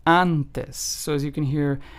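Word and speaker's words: antes: a in English and it is pronounced with the a in the English word aha so let's take an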